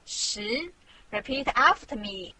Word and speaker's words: 十: This is its syllable, 十.